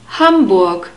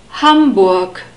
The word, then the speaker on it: Hamburg: and who becomes 0 humbug hamburg humbug the stress is on the first syllable like in most of the German words and then we have